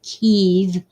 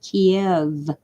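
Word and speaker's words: Kyiv: uh yeah well Oswald the ukrainians pronounce it Keith and the Russians pronounce it Kiev but I don't care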